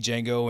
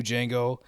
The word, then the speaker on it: Django: of thing or like the D is silent that scene between Frank Nero OG Jango and new Django that's great but my